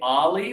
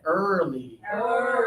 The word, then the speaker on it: early: For this one, we have to think about our lips. Our lips are forward but still open. Yeah. Y'all look great. Okay. So, this one a lot of people say Ali like Muhammad Ali, right? That's not right. And it's not but it's instead early.